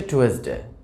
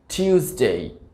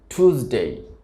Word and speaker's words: Tuesday: তো এটি আসলে ভুল উচ্চারণ, এটি সঠিক উচ্চারণটা হবে টিউসডে, টিউসডে, টিউসডে। আর আমেরিকান এটিকে উচ্চারণ করে থাকে টুসডে, টুসডে। তো আমরা এইভাবে মনে রাখতে পারি 2 + s, টুস, টুসডে, টুসডে।